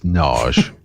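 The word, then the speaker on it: Nagy: Is that how you pronounce his name? Narge? I've always been calling him Narge. No, it's Narge.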